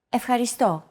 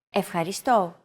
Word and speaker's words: Ευχαριστώ: Ευχαριστώ. Your turn. Ευχαριστώ. Ευχαριστώ. Do you remember this mark here? We talked about it in lesson 2. It's the accent mark, and it indicates that this syllable is stressed.